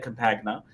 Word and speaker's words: Compagna: with Malaya Compagna, and they do pronounce it Compagna. I know it's in Italian, it would be Yeah, Campagna. I know. Yeah, for some reason they are pronouncing it Compagna with the G.